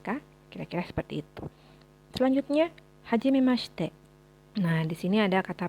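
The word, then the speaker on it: はじめまして: Biasanya kalau huruf shi dalam bahasa Jepang memang tidak terlalu diucapkan huruf i-nya ya. Jadi kayak kita bilang hajimemashite, huruf i-nya jadi bukan hajimemashite tapi hajimemashite. Hajimemashite.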